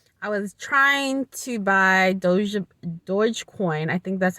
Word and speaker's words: Dogecoin: Unfortunately, I was trying to buy Dogecoin. I think that's how you pronounce it correctly, Dogecoin, and apparently Robinhood uh, just flat out said we can't approve your application.